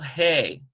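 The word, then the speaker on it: הא: letter and, for example, hey. One is a guttural, the other one is a very smooth H sound.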